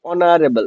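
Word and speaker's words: honourable: যেমন অনারেবল এই ইউ আর এবি অনারেবল ম্যান। তখন আমরা কি বলব? তখন আমরা বলব অনারেবল ম্যান। তাহলে এই যে যখন এইচ আমার সাইলেন্ট থাকে তখন আমরা কি করি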